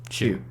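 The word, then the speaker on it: Hsu: it instead correct yeah Stephanie Hugh hu or Shu Shu how do you pronounce it Shu yeah I thought this movie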